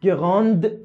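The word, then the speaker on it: grande: مثلا نگاه کنید: ان گران لیور اون گراند تبل. تو مثال اول گفتم گران، گران نزل، تو مثال دوم گفتم گراند، گراند. اوی که اومد دی تلفظ شد.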